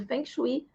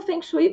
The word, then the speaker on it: Feng Shui: A gente fala Feng Shui porque é o que a maioria das pessoas conhecem, tá? Mas quando eu aprendi, me ensinaram que na pronúncia correta é Feng Shui.